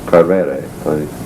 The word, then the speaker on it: Coelbren: We found the 3 gold tablets that were known as the Purgy tablets from a temple at the port of Coelbren. That's the Welsh way of pronouncing it.